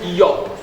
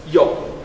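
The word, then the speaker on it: איוב: Isso aí se pronuncia alguma coisa como Yop. Yop.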